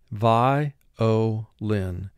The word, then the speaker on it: violin: Vi-o-lin. Vi, two sounds. V, I. O, one sound. Lin, three sounds. L, I, N. Vi, O, lin.